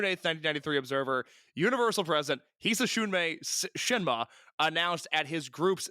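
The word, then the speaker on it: Hisatsune: To my understanding, it's pronounced Hisasune. Hisasune. All right, we're going to give that a shot. So the June 8th, 1993 Observer, Universal President Hisasune Shinma announced at his group's 6-4 card at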